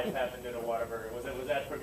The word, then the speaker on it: Whataburger: were eating there so whataburger certain parts of texas they pronounce a water burger have you ever noticed